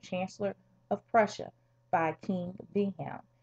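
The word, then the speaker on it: Wilhelm: In 1862, Otto Binbar uh Bismar was appointed Chancellor of Prussia by King Vham and in German you pronounce a W as a V.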